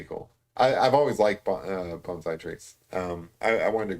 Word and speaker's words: bonsai: ey trees um uh some people pronounce it Bonsai I I pronounce it bonai um some of the